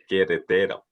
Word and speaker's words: Querétaro: You're not pronouncing the accent. Querétaro.